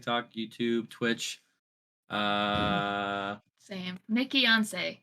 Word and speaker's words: Nikkiyonce: YouTube twitch uh same nickon spell it though because it's Weir as a Nancy I k k i y o n c e it's like Beyonce but nickon not Nicki once people say it all